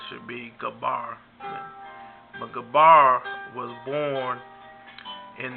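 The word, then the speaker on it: Eber: son his name was was a some say a bar but the actual pronunciation should be Gabbar but Gabbar was born in the year 1723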